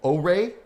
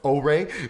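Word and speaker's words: Oure: And then they showed off another game called Ore, but it's spelled O-U-R-E. But thankfully they said it's pronounced Ore, so I had no idea.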